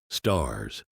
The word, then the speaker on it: stars: Stars, a southern pronunciation of the word stairs, like bar for bear.